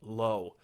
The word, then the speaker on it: Lowe: going to be jason lowe now i used to say jason lau but finally i figured out how to actually say his name and the last time